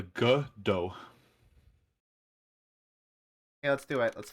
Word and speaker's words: Godot: so it's it's yeah it's like soft g the g dough okay let's do it